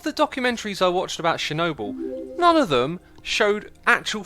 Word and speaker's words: Chernobyl: pronounce that Owen Chernobyl I say Chernobyl like that I've heard other people say it's sharing a ball or something because I was watching